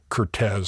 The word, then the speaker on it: Curtiz: Uh but he he is the official biographer and he says it is correctly pronounced Cortez. So um since we are uh lawabiding podcasters, we we will pronounce it Cortez.